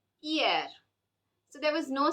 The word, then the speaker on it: hier: The letter is a consonant and it does not make any sound. Therefore, words that start with letter H, such as honor, hiver, hiver means winter, and hier, hier means yesterday, are pronounced without the sound H.